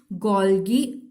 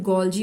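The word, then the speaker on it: Golgi: तो यहाँ पे इसके बाद हम बात करेंगे 4th organelle, which is गोल्गी bodies या फिर गोल्जी बॉडीज, भी दोनों तरह से इसको प्रोनाउंस करते हैं।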